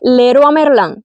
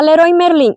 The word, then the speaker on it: Leroy Merlin: Para nosotros los españoles, pero para los franceses aquí se dice leroa Merlán. No sé por qué, no tengo la explicación, pero hay letras que están escritas y que no se pronuncian.